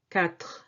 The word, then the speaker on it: quatre: Quatre. Quatre. QU, this U doesn't affect the pronunciation. You just say K. Quatre. And this E, at the end is silent.